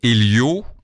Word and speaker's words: Elio: Cet homme s'appelle Elio, et Elio s'écrit, je le dis tout de suite, E-L-I-O, donc ne vous cassez pas la tête pour l'écrire, ça s'écrit vraiment comme ça se prononce.